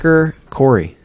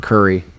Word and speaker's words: Khoury: I used to pronounce your name wrong. I pronounced it Curry. And for the longest time, I pronounced your name Curry. Yeah, it's not Indian food.